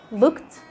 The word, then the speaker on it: looked: We don't say asked, we don't say played, we don't say looked. No, looked, asked, played. Drop the sound of the E.